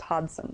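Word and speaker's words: Hodgson: her name is Aaron Hodson it's h o d g s o n but that's how you that's how it's pronounced Hodson you don't really say the g so I think of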